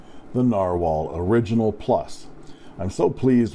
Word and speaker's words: Narwhal: My favorite Pen BBS 456, and now the Narwhal, pronounced Narwhal, Original Plus.